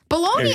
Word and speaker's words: Bologna: your name the the Bologna boys boys hey whatever I got the first thing right baloney I love Bologna cuz it's spelled blog nah it's beautiful it doesn't